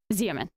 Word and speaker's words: Xeomin: Xeomin.